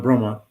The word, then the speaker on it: Bromont: How do you spell that? Bromont.